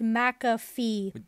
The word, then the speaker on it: McAfee: call the McAfee effect actually I think it's pronounced McAfee there's no Mac and in just the muck like see it schmuck that's what Google says you've gotta be kidding